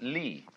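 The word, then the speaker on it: 理: universe which is this they pronounce it Lee now this sign has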